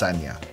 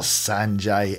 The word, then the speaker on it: Sanja: this but both is fine yeah but it's pronounced sagna yes that's more important than the spin not sanjay eric there isn't any extra footage we used